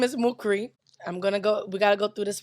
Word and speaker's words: Mukhri: Either way, my name is Mukri. We gotta go through this with y'all again. That's Mukri. Okay? MOO-KREE. That's to help you pronounce it. Mukri.